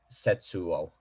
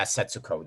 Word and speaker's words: Setsuko: then the little girl uh the sister is named uh setsuo sensuo yeah setsuko there you go yeah yeah